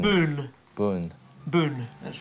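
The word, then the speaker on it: Boone: Boon with an N. B O N E. Boon. Boon. Boon. Boon. Boon. Yeah. Boon. Boon. Yeah. Not D. Not boond. Boon. Boon.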